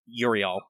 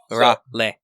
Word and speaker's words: Uriel: Yeah, as opposed to like, I think I've heard some people try and say it like Uriel or something. No, no, Urale.